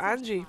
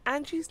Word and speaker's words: Anji: on how to pronounce Angie's name and the Angie is the team the J and Angie is like a j sound rather Ang Ang Ang